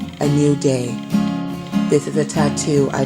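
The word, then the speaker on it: ANUDAI: I am in control a n u d a i pronounced a new day this is a tattoo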